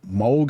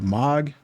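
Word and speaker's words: Mohg: in Elder ring uh I guess it's Moog I think or MOG I think that's how you say his name m o HG the Lord of blood if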